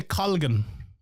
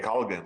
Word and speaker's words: Colgan: But yeah, how's it pronounced? I would say Collan. Okay. Collan.